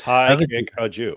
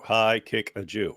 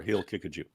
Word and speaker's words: Haqiqatjou: I'm your host it's high kick a Jew high kick a Jew or he'll kick a Jew those are the correct pronunciations that reminds me of